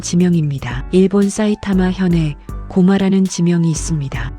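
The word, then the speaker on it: 高麗: 대표적인 것이 고마라는 지명입니다. 일본 사이타마 현에 고마라는 지명이 있습니다. 고마는 고구려의 일본식 발음입니다.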